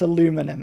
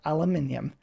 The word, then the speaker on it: aluminium: Oh, it's aluminum. No, it's not. It absolutely is not aluminum. It is aluminium.